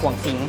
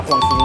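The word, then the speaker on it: ข่วงสิงห์: ขาย ที่ นู่น แยก ขวง สิงห ครับ ใช่ มั้ย เ้า อ่าน ว่า ข่วง สิงห เนาะ ค่ะ อ่าน ว่า ข่วง สิงห ยาก ข่วง สิงห อ หมุน กี่ รอบ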